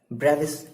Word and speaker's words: Bravais: ब्रेविस lattice. ठीक है, क्या पढ़ोगे आप, जो भी आप इसका प्रोनाउंसिएशन कर लो, BRAVAIS, ब्रेविस। क्या पढ़ेंगे? ब्रेविस तो पढ़ेंगे, ब्रेविस, हाँ ठीक है, ब्रेविस लैटिस।